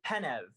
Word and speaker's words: Penev: Could you say like, hello, my name is, I don't know, Eddie Penev, and am I pronouncing it right? Eddie Penev.